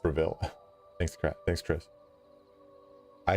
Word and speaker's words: Bravil: Um, it's pronounced Braville.